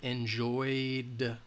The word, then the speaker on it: enjoyed: a vowel sound so if the word ends in a vowel sound then we're going to Edie is going to have a D sound enjoyed we enjoyed the view